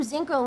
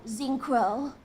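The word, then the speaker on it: Zinkro: name wrong yeah yeah I always call them zinco with a z or with a k z i n k r o zinc Crow I found a fast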